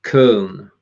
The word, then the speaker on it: Köln: things first right i need to get the pronunciation right here ask angelica visits kern that's it ah cool right okay that's good